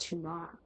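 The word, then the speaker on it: Tunare: In fact, I've learned recently that it's pronounced Tuna, which is odd. Why is the E at the end? Why? It's just very strange. Tunar.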